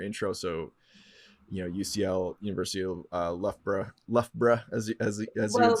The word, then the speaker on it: Loughborough: So UCL, University of Loughborough, as you would say. Well done on your pronunciation there.